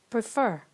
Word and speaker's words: prefer: we have this verb prefer prefer is a two syllable verb but the stress is on the last syllable which is fir then the rule says